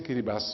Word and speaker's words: Kiribati: very important because it is written Kiribati 因為它寫作Kiribati 如果你把它讀成"KEE-ree-buhss" and if you say "KEE-ree-buhss" 就能顯示出你知道一些關於基里巴斯常人所不知道的故事 you kind of show that you have you know things "KEE-ree-buhss".